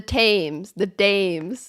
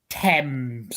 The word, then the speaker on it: Thames: The Dames. Yep, that's another one you butchered. Okay, what is it? Thames.